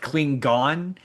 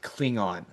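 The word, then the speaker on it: Klingon: Like at one point, one of the characters pronounced it cling gone. I'm like Klingan. Klingan like like surely like like just meta. Let's let's pull back into the meta. Surely like before they shot they went it's pronounced cling on.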